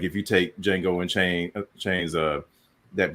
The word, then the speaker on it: Jango: They're spelled differently, but pronounced the same.